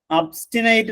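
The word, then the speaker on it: obstinate: എൻ എ ടി നോക്കിയേ ആ word ഒബ്സ്റ്റിനേറ്റ് അബ്സ്റ്റിനേറ്റ് എന്നാണ് ശരിക്ക് അതിന്റെ ഉച്ചാരണം അബ്സ്റ്റിനേറ്റ് എന്ന് പറഞ്ഞാൽ ഇൻഫ്ലെക്സിബിൾ വഴങ്ങാത്ത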